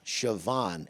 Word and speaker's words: Siobhan: I go, Siobhan.